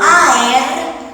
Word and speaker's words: aer: seguramente la semana próxima una palabra como aer como es una palabra griega no tenés diptongo y son dos sílabas hay que tener mucho